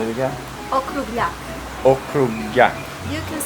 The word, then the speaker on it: Okrugljak: Okrugljak.